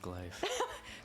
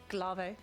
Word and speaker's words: glaive: thing so just imagine the guy sitting it's pronounced glaive glav give me back my G you don't know